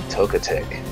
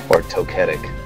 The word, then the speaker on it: Togetic: can he take out togetic togetic never understood which one is the right way to pronounce that I've heard I said togetic and I've heard togetic so which both seemed fine to me togetic it is until